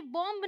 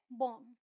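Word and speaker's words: bomb: यहाँ पे देखते हैं, ये बॉम्ब नहीं है, ये है बॉम्ब। ओके, ये क्लाइंब नहीं है, ये है क्लाइंब, बी साइलेंट।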